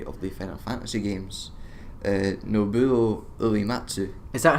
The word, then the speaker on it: Nobuo Uematsu: Nobuo Uematsu. Is that how you say it? Yeah. I've been wondering this for like 15 years. Nobuo Uematsu.